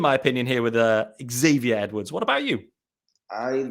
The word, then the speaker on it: Xavier: talk about Xavier Edwards I think that's the right American pronunciation is that correct let's start Xavier is that right yes Xavier Edwards I've struggled with